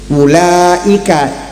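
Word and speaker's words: أولئك: pakai alif pakai wawu ulaika alif wawu tapi bacanya pendek kan betul enggak bukan ula kan enggak kan ula kenapa s ada wunya nya.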